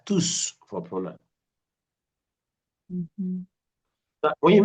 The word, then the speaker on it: tous: Ils sont tous. When it has to do with a pronoun. But for an adjective, the S is not pronounced.